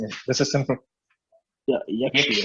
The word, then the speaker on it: Yakshi: Try pronouncing it. This is simple. Yeah, Yakshi.